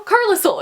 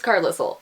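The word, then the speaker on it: Carlisle: main guy you know carsil and she's like you mean carile and I'm like what no it's Carle why is there an L in there if you're not going to pronounce it and don't even get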